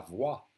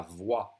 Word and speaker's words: voix: The voice is la voix. Le toit, le roi, la voix. And the X silent, just like the T.